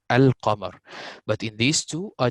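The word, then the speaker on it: القمر: This lam, actually we pronounce al-qamar. I pronounce the lam here, al-qamar.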